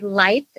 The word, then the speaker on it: Leicht: so yes i'm lights l-e-i-c-h-t so it's a german background so it has the ch in it that you pronounce it just like sunlight or light bulbs awesome that's one thing